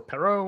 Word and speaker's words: Perault: again my name is Perrault or Perot or however you want to pronounce it doesn't matter as long as it's